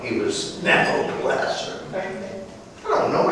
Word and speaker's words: Nabopolassar: Nabopolassar. That was one name, not two. He wasn't Mr. Nabo. He was Nabopolassar.